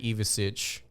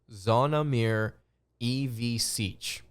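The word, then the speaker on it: Zvonimir Ivišić: Monday afternoon I want to talk about zonomir evasich and in case you're wondering his name is pronounced zonamir EV Siege or sich if you want to if you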